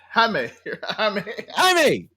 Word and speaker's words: Jaime: Jaime. Don't do my people like that. A lot of mispronunciations in the movie too, because they kept correcting somebody.